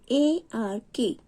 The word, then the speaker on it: ark: A-R-K, ark. Ark. Here is R is silent.